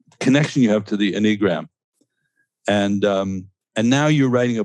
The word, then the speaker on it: Enneagram: Am I saying it right? Yes, you are. Or is it Enneagram? Enneagram. How did you say it? Enneagram. Yes, I think, yeah. I don't think it's Enneagram. It's Enneagram. Okay. Enneagram. So accent on the first syllable.